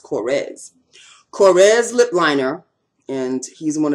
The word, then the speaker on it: Korres: this is my korres it's not coarse i found out that it's pronounced cores corres lipliner and he's